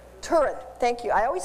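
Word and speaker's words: Turid: work of an eye freak I forget to pronounce her name right turret thank you I always say it wrong and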